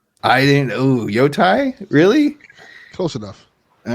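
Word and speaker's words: Yōtei: It's Yotai. I didn't. Ooh, Yotai?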